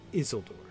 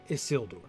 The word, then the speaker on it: Isildur: I think, all things considered, I'm now coming around to thinking that the poem wants us to say Isildur, not Isildur.